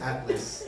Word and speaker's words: Atlas: He likes me so much he adds a syllable to mine. It's just Atlas.